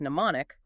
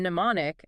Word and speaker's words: mnemonic: The M was actually pronounced before the N in mnemonic as recently as the late 1800s.